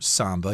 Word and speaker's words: samba: you'll see some elaborate Samba performances or Samba you can pronounce it both ways and again elaborate means